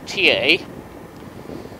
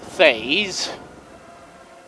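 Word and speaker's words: Thiais: It's pronounced in French TA. In English, you'd pronounce it Thays.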